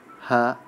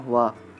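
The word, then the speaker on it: は: Nah, ada beberapa partikel dalam bahasa Jepang, yaitu ha atau dibacanya wa, ga, wo atau dibaca o, ni, de, to, he atau dibaca e, no, mo, kara, made, dan yori.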